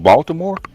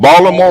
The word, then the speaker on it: Baltimore: Is it Is it Baltimore or B? How you say like with a W? Baltimore. Because Because you know because you know Baltimoreans typically pronounce it with a W.